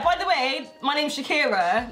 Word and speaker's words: Shakira: So my name is Shakira, spout S-H-A-K-I-R-A. Yes? Nice and easy. You pass. Okay. There's no E in it. It's not S-H-E-K-I-R-A. It's pronounced Shakira.